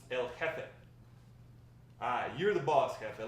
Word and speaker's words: El Jefe: It's pronounced El Jefe.